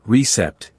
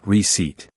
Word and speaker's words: receipt: The letter P is silent. You don't say receipt, you say receipt.